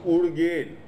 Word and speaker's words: Ugyen: that is uruguay it is pronounced urgate so that is a tibetan mispronunciation of urane then you have dhanauri